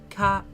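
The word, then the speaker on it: か: Ka. So adorable. This is ka. It's a consonant followed by a vowel, and that makes a single syllable. You pronounce this as ka.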